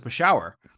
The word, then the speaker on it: Peshawar: do you pronounce this this the city Peshawar peshuar you know in in Pakistan and I'd you know turn along you pronounce it for shower and he looks at me he's like well